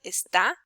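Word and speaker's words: está: is showing you that the syllable with more accent with more with a strength in pronunciation is the last one esta and if it wouldn't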